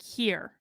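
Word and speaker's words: hir: z was hungry okay her is pronounced like here here so z here here that's what they are tyler ate here food because z was hungry z is pronounced like z and can also be spelled z-i-e or x-e and replaces she he they here is pronounced like here and replaces her hers just say my name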